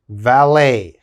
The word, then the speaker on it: valet: use it in english cabaret the next word valet valet of course there's valet parking you go